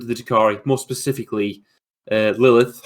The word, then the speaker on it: Lelith: takari more specifically uh lilith horospecs is it i can't i could never pronounce her name her sporax how would you present how would you pronounce that chris is it uh lelith yeah it is yeah lalith hesperax yeah they've um they've released